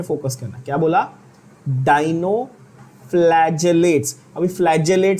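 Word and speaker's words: dinoflagellates: डाइनोफ्लैजेलेट्स। Pronunciation पे focus करना। क्या बोला? डाइनोफ्लैजेलेट्स।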